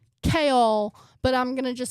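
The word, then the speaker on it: Chaol: I learned how to pronounce it and I was like, "Oh, it's like Kale, but I'm going to just say kale."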